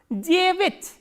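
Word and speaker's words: девять: And please remember, stress is on ye. So, this ya will be reduced, and reduced a is normally pronounced as e. So, how will you pronounce this word? Jevit, jevit.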